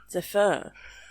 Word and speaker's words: zephyr: But not the h as in British English. It's a zephr with an R sound. Like a slightly rolled zephr. It's got a bit of an R at the end.